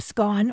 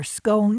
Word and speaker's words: scone: Each guest received a scone, or scone, if you prefer that pronunciation, and a bath bun.